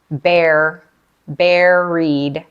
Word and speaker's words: buried: work we use this adjective buried pronunciation bear bued like buried in the ground to mean you feel